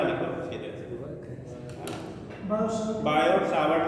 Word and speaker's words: Savart: ऐसे करो सीधे, बायो सावर्ट ला लिखो सीधे। बायो सावर्ट ला को पढ़ा रहा होगा अपने बोर्ड में बहुत।